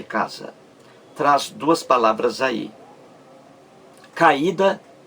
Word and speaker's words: caída: traz duas palavras aí caída é isso caída e sai este vamos ver isso aí caída veja bem três sílabas caída caída a sílaba mais forte é ue esse aí forma